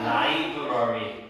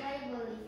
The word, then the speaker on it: library: 자, 라이브러리. 너는 라이브 뭐라 그랬지? 라이벌리. 라이벌리 뭐 이렇게 잘하지? 라이벌리. 다시 이제 자 다시 뭐라고? 라이브러리. 자, 라이브러리. 알겠습니까? 이게 러리야, 러리.